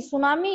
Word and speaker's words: tsunami: अब देखिए अगला कहते हैं सुनामी इज ए, ठीक है इसमें टी साइलेंट है, सुनामी इज ए ब्लैंक्स